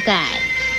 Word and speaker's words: 丐: 盖字的国语注音是歌爱盖四声盖，盖四声盖。